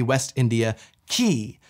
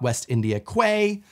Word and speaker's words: West India Quay: far into the dockins maybe make sure you pronounce it West India key and if the queen